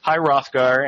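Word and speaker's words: High Hrothgar: off to high herathgar I guess rothgar you don't pronounce that H I guess hi rothgar and I uh he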